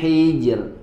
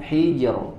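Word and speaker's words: حجر: alfajr ya halalika qamzi Hijr silakana Nah berarti di sini rnya dibaca dengan tipis bukan Hijr ya tidak ditebalkan tapi tipis hijrika qam Hijr hal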